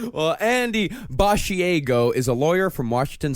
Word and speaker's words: Basiago: It's spelled like a mixture of Bar fin Asiago, the cheese. But it is uh it's He says it Basiago.